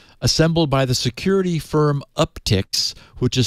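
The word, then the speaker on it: Uptycs: encountered an analysis assembled by the security firm uptix which is spelled u p t y c s up ticks um of the most commonly used lol bins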